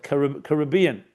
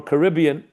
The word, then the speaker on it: Caribbean: south, meaning south, the southern tip in the Caribbean, or Caribbean, the two ways you pronounce it.